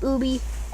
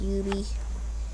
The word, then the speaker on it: Ubisoft: so I pronounce it ooby I pronounce it UV Ubisoft it's a blu-ray disc